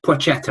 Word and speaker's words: Placheta: Placheta. Placheta. Yeah, I think the L essentially becomes a W, doesn't it?